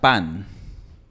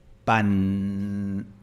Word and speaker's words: pan: Por ejemplo, la palabra pan, en un acento neutro se pronuncia con la punta de la lengua en el frente. Pan.